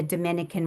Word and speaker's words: Dominica: I think some people get confused and they think we're part of the Dominican Republic, but indeed we are not. We are our own island and it's pronounced Dominica and we're called the nature island.